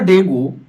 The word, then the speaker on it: dengue: डेंगू एक बुखार ही है और यह बुखार वायरस से नहीं, fever dengue, pronounced DENG, is caused by virus that are transmitted by mosquito bites.